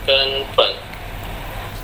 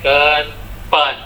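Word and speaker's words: 根本: G-E-N ada satu. Oke, kenpen. B-E-N ada 3.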